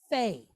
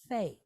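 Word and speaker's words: פ: This guy here, all right, this, when it does not have a dot inside, that is the letter Fe. Fe. Like an F.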